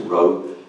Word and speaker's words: ROE: evaluating, which gives us the acronym ROE, and if you pronounce it row, you can get back